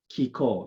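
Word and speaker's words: 気功: gong is still chinese but we we said kiko in japanese right now the japanese natural philosophy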